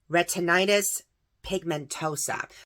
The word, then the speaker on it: retinitis pigmentosa: an untreatable eye disease this is how it's pronounced retinitis Pigmentosa so right now he and his husband Matthew